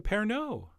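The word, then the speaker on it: Pernod: a little splash a pair No oh yeah the D is silent in fact the O is almost silent and if you haven't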